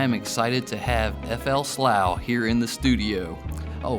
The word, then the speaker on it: Slough: excited to have FL slow here in the studio oh first question is that the right way to pronounce your name absolutely you said it right all right well I'll